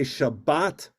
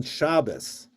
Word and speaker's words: Shabbat: In Ashkenazic Hebrew, it's pronounced aw or o, and that's why sometimes people are confused with, we say Shabbat Shalom, or in Ashkenazic, it's actually Yiddish, where people will say Guten Shabbos.